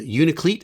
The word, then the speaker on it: Unalakleet: Michael, then a quick jaunt up to Unalakleet, as they pronounce it up there, and then back to Nome to finish the route for the day.